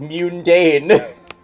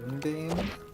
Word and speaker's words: mundane: They do mispronounce words like m like mundane. Yeah. What do you mean? Mundane. I say mundane. Yeah. Which is not how the word I put emphasis on the U.